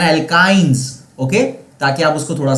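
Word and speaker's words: alkynes: और मैंने आपको स्पेसिफिकली इसके प्रोनाउंसिएशन थोड़ा सा अलग करके बताया था ताकि आप इसको अच्छी तरह से याद रख सको। एल्केन्स, एल्कीन्स एंड एल्काइंस, okay, ताकि आप उसको थोड़ा सा अलग से याद रख सको।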